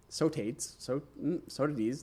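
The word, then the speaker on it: Sotades: So the ancient Greek poet Sotides, Sotides, that's the one, the 3rd century BCE, invented a form of ionic metering.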